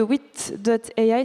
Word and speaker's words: Wit.ai: On va surtout parler de Wit.ai, c'est comme ça qu'on prononce, hein? Il paraît, oui, on a toujours hésité, mais on peut dire que oui.